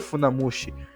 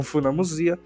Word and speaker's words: funamusea: Cia significa mar Originalmente a pronúncia correta de funamosia era para ser Funda moshi mas como tantas pessoas diziam funamosia Ela acabou aceitando essa pronúncia inclusive por mais que